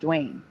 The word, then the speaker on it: Dwain: It's spelled Dwain. It's pronounced Dwayne. It's still pronounced Dwayne.